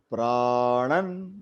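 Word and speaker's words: prāṇān: There is pranan. So a is extended. Nan. A is small. So pranan dehi.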